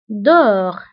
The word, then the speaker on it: dehors: وانتبهوا أيضا بالنسبة ل dedans و dehors كنكتبوهم بأس في آخر الكلمة ولكنها لا تنطق dedans dehors، داخل خارج.